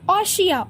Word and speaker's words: ostia: ऑशिया, OSTIA, ऑशिया, OSTIA, ऑशिया।